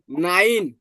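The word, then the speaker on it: nein: এ ই থাকে এ তাহলে এটার উচ্চারণ রসয়ের মত হয় কেমন হয় রসয়ের মত হয় ক্লিয়ার এজন্য দেখেন নাইন এন ই এন নাইন নাইন মানে নো সবাই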